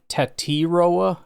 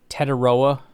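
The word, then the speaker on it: Tetairoa: I have seen some kind of quote unquote official thing saying it's Tetroa. This says Tatioa. Either way, when you say it fast, it's Teteroa because I'm not going to say Tateroa. Even if you listen to him say his name, it's all kind of just like jarbled together. So, it's just Teteroa. If you want to say it slow and annunciate it, then it's either Tatioa or Teteroa.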